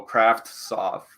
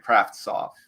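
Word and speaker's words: Kravtsov: you say his name I think you just say you just try to kind of sneak the T in there a little bit and go craft soft all right kind of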